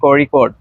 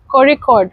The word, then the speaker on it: Kozhikode: correct pronunciation according to Malayalis it is Kozhikode. Kozhikode. Kozhikode. Yes. Thank you. Thank you for teaching me. As I am a North Indian, so I also called in starting time I also called it Kozhikode. Correct is the Kozhikode.